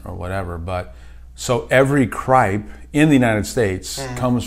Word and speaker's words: Cripe: Am I pronouncing it correctly, Cripe? You are.